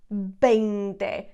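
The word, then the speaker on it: veinte: e being there and notice that the V I'm not pronouncing it as a v I'm pronouncing it as a bende in Spanish the v's and the bees are always pronounced B okay so that's the 20.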